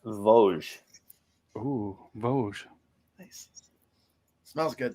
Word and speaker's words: Vosges: By the way, it's pronounced Vosges.